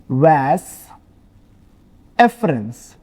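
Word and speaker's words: vas efferens: This portion है ना, इसको अपन बोलते हैं वैस एफरेंस। डिफरेंस नहीं, इसको अपन बोलेंगे वैस, सॉरी स्पेलिंग मिस्टेक, वैस एफरेंस।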